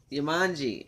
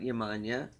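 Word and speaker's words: Yemanjá: Yamanji, I guess, is how you pronounce it, not Yamanya.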